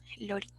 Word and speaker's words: Lorin: Lorin, con acento en la O, Lorin. No Lorin, sino Lorin.